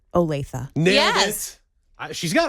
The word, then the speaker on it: Olathe: How do you pronounce that on TV? Olathe.